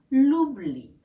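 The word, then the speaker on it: l'oubli: 몸으로 싹 됐기 때문에 정관사 루가이 우하고 연결되어서 루블리 이렇게 연결돼서 발음 되고요 이럴 경우에는 뷰라고 축약이 되지 않아요 그래서 늘 루블리 이렇게 발음을 하게 되는 거죠 그래서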